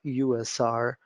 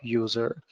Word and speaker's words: usr: in Linux you have USR Unix shareable resources so I better recommend you to call it USR instead of user user might confuse others